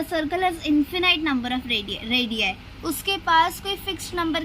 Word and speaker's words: radii: We won't pronounce it edge रेडियस, we will say इट एज रेडियाई, ठीक है।